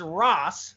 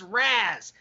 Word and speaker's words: Ras: him about that, because he told me it's Ross, like R-O-S-S. That's how you pronounce it. And then when I was just down there hanging out with him and Nick Gully a couple weekends ago, his wife Janice was saying it's Raz.